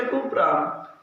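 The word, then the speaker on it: Cuprum: কিন্তু দেখো কপার, তাহলে কপার হলে তো এটা হওয়ার কথা, CUPOR, কপার। আমাদের যদি এটা হতো তাহলে কিন্তু এটা আমাদের কিসে হতো? ইংরেজিতে হতো। কিন্তু এখানে আমাদের উচ্চারণ হচ্ছে কুপ্রাম আর আমাদের বলতে হয় কপার।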